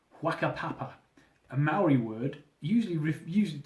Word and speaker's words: Whakapapa: side, purely because the other side was called Whakapapa, a Maori word usually used to refer to their tribal hierarchy and genealogical structure. And in Maori, Hua is pronounced F, making the name of the place Whakapapa.